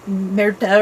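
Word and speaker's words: Märtha: I'm giving it the American pronunciation of Martha, because in the show they kind of pronounce it like Merta or something like that, you know, with their Norwegian accents.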